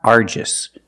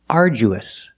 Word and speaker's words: arduous: The pronunciation of this word is not arduous. We don't say arduous. The pronunciation is arduous. Arduous. And it means very hard. Arduous. The DU makes the J sound like jump and juice. Ardu. We use a long oo like food and boot. Oo together. Ardu. Arduous. Arduous. The last syllable is relaxed. Us. And when you link the oo to the us, there's a sound that links the vowels.